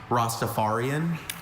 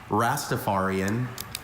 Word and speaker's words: Rastafarian: I have a few pronunciations. Rostapharian. Rastaparian. Rostapharian.